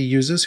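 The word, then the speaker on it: luser: Engineers started calling the users who would send these requests user with a silent L AKA loses this doesn't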